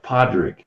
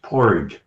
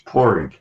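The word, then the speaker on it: Padraig: My name over there is P A D R A I G, which looks like Padrick, but it's not. It's Porig. Mhm. In Dublin, it's Porig.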